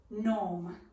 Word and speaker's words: gnome: are gonna go for gnome for the silent g so slowly squatting yourself